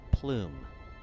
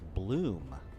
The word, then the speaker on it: bloom: Is it spice balloon or is it plume? Thought it was plume. Could have been saying it wrong this whole time. Or maybe it's bloom. I don't know. Okay. Bloom. Okay. It's bloom. I have been saying it wrong. I've been calling it a spice plume.